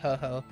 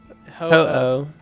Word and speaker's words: Ho-Oh: Because I always call it Ho-Ho. Ho-Oh. It's literally spelled H-O-O-H.